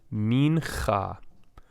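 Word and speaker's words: מנחה: It is silent. And why? It is a shva alone in the middle of a word. It is usually silent, and it also marks the end of a syllable, right? So we could split the syllables here into min and cha right here between these two with the shva as the indicator.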